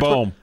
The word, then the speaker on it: Bohm: How do you say his name, Porth? I think it's Bohm. So I had it right the first time.